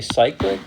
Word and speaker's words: cyclic: Some people say cyclic, but it's cyclic is the most common pronunciation I've heard.